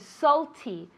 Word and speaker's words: salty: Salty. Salty. Really, that A, we pronounce it as if it were an O.